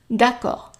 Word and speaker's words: d'accord: Une chambre double, d'accord. So let's do it word for word. Une chambre double. D'accord. Yeah. Notice I underlined all the E's at the end and the D because they are not pronounced.